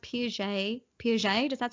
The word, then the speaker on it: Peugeot: I think it's pronounced Piaget. Piaget, does that sound right? Why? I might have thought of Peugeot.